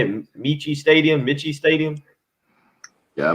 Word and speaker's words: Michie: Michie Stadium? Yeah, MITCHIE.